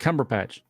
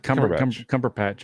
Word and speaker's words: Cumberbatch: It's Benedict Cumberbatch. Benedict, yeah. That's it. Okay. I always want to call him like Cumberpatch or something.